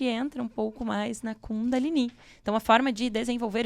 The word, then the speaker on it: Kundalini: O ideal é pronunciar esse I mais forte, mas aqui no Brasil a gente tem muitas escolas e muitas linhas que chamam de Kundalini. Kundalini é uma forma considerada menos correta de pronunciar do que Kundalini, porque o I na tônica final designa que é um termo feminino.